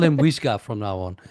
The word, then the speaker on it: Wijga: perfect pronunciation. Yeah. I will call him Wijga from now on. Wijga.